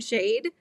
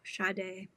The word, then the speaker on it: Sade: Is it Sade, though? Is that how you're supposed to pronounce it? And we're saying Shade? It is Sade? Oh, Sade. So I was pronouncing it wrong.